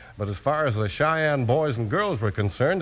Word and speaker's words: Cheyenne: c h ye n n e and it's pronounced Cheyenne today Cheyenne's a name of a town in